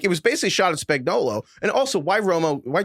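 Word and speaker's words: Spagnuolo: He calls him Spagnola even though Tony Romo has probably done more Chiefs games than anybody else in the last six years and he's gotten this guy's name wrong every single time.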